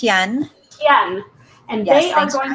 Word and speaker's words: Hyun: because tonight's guests are Judy Blakeney and Trisha ku did I pronounce that right its yen yeah and they are going to be talking